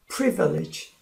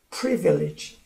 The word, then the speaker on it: privilege: 그래서 오늘은 privilege, 강세가 첫 음절에 있어요. privilege, privilege.